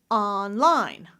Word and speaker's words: online: I'm going to say online, da-da, where both syllables are stressed.